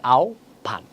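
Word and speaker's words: আহ্বান: সঠিক উচ্চারণ কি হবে আহবান সঠিক উচ্চারণ হছে আও ভান জিবা সঠিক উচ্চারণ হছে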